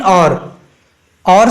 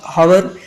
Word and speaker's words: hour: Brake of half an और सां गॾु HOUR, बेसिकली इन जी प्रोनाउंसिएशन इनखे असां और चवंदा आहियूं ऐं इनखे ऑलमोस्ट पीपल हावर बि पढ़ंदा आहिनि, बट इट इज़ नॉट हावर, इट इज़ एन और.